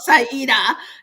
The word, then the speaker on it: Saida: Saida. Saida. You see, Hmm. I try to practice it. It's not pronounced the way it's spelled, Saida, and I should know that.